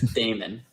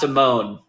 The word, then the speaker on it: Damone: I'm pretty sure it's Damon. It is Damon Clark? Okay. Yeah, it's definitely not Damone. Okay, I didn't think so. But yeah, Damon Clark, I have always heard it said Damon.